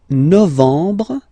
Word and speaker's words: novembre: Novembre, novembre, novembre. Okay, em en novembre, novembre.